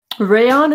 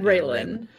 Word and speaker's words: Raylan: There's an L in there, isn't there, Joe? Yeah, Raylan. he said Raylan.